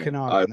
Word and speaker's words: Okanagan: You've got the hope I'm going to pronounce it right. The Okanagan Hockey Academy. Yeah, so the Okanagan Hockey Academy. Okanagan, there we go.